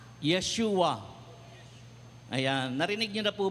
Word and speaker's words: Yeshua: ibig sabihin ng ah Yeshua Sabihin niyo nga Yeshua Yeshua Ayan narinig niyo na po ba yung bigkas na Yeshua so Yan po ang hebreong